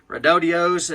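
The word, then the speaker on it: Redodo: Got the Redodios, as they pronounce it. You know, don't kill the messenger, but that's how they want you to say it. It's Redodio.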